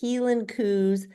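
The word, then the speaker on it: Hielan coo: is how Heen heel like a heel like a heel on your shoe the healing C so anyway Highland cows in Scotland is pronounced Helen cou and they became our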